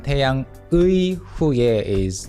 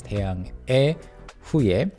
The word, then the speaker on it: 태양의 후예: Again, this one 태양의 후예 would be the literal pronunciation of the word 의 but then in spoken Korean it's often pronounced as 태양[에] 후예, descendants of the sun.